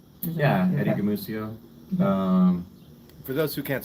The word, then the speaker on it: Gumucio: or Yeah, Eddie Gamucio. For those who can't spell that, g u m u c i o. It's a soft c like mice. It's not Gumukio or Gumuchio or Gumshoe.